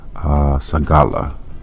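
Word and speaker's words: סְגֻלָּה: So we go into that word peculiar in the Hebrew, and that word pronounced is sagala.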